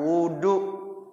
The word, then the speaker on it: وضوء: Nih makanya saya sampaikan di sini ya furudul wudu sama dengan arkanul wudu. Dia juga isinya. Wahwa, dan dia wudu maksudnya ya bidomil wawi, wawunya didomakan, wawunya didomakan, wudu.